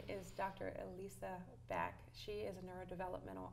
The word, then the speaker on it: Elisa: Because it's spelled E-L-I-S-A. Right. But it's not pronounced that way.